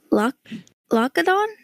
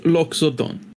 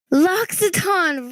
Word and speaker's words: Loxodon: you a laxity leadon Lo Ladon whatever it is I understand what you're trying to say but uh it's pronounced loxodon loxodon right that's what the